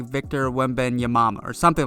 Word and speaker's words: Wembanyama: Pretty easy to say when you sound it out, that's Victor Wembanyama.